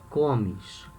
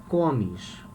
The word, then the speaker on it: comes: notice here we say komish okay the strong syllable the strongest syllable is the the first komish here we say gomesh the strongest syllable is the last the last one comes third person plural